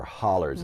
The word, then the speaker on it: hollers: The mountains are so close to each other that the valleys are called hollows or hollers, as we pronounce them there.